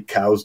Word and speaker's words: Coues: So his name's Coues, and so it's technically cow's deer. Somewhere along the way, because of the way the name is spelt, probably people started calling it Coues deer because it's C-O-U-E-S, and that caught on